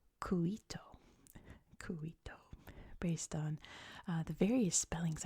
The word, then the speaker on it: Cuito: Angola to make sure I'm not coming from a Spanish mindset, I'm coming from a Portuguese mindset. So the capital of BA, I believe, is pronounced Cuito, based on the various spellings.